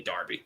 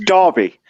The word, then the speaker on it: Derby: saying louis matt in derby which is how it's spelled that's really darby it's okay it's darby d-e-r-b-y okay fair enough yeah